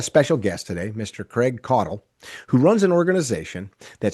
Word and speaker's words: Caudill: You say Codle. Codle is the right way to say it. Yeah. Codle. I like my pronunciation better, but we're going to call him We're going to call him Codle.